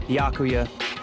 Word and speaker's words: Byakuya: I'm sorry, I want to pronounce it the right way! Byakuya! It's Byakuya. Oh, he's like, bitch, say my name right.